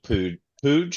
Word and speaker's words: Puig: Uh, uh, Keegan just put in the chat that Ricky Pooge, is that how you pronounce it? Pooch, yeah, it's like it looks like Pooch.